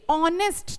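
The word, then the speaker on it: honest: क्यों, क्योंकि ऑनेस्ट, जब हम ऑनेस्ट को प्रोनाउंस करते हैं तो हम क्या बोलते हैं, ओ की साउंड दे रहे हैं ना, ऑनेस्ट, न कि ह की साउंड दे रहे हैं।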